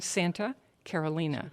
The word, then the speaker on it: Santa Carolina: your $10 bottle ah Santa Carolina Santa it looks like Carolina to the rest of us but it is in the Spanish pronunciation Santa Carolina call it Santa yes